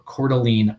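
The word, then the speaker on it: Coeur d'Alene: And then uh C I I think I'm saying this one right because I've heard this said before. Cordelene, Idaho. Um if you don't know how that is spelled, Terry Kushman, you would never get Cordelene out of it.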